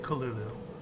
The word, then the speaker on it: Cthulhu: So anyways, with that said, even though Cthulhu is spelled with a C, there are alternative pronunciations with a K.